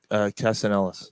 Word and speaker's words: Castellanos: Castellanos. Like Nick Castellanos. Castellanos. Sorry. Castellanos. I think it's Castellanos. Okay. He said the L's are silent. A silent L.